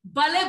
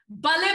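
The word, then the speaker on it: balle: And of course, in my culture, we say, bale, bale. Bale, bale is spelled B-A-L-L-E, B-A-L-L-E. And it is meant to be shouted out with lots of joy and lots of excitement.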